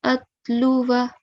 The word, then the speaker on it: أتلو: So when we come across this word in the Holy Quran, again, we'll drop the excessive alif at the end. We will not pronounce it, okay? So we will say wa an atluwa.